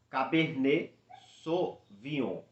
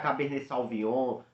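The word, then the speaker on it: Cabernet Sauvignon: cab sovon veja bem Cabernet sovon isso é muito importante também a pronúncia mesmo que você também pronunciar cab salvon não tem problema Ninguém é obrigado a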